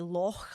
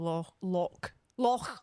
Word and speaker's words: loch: But like, What I struggle with is when people just obnoxiously refuse to say loch, like to pronounce the CH when they can speak German.